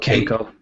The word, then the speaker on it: Kenko: I used extension tubes in the past, and so I picked up what is, I think it's pronounced Kenko. Kenko, yeah.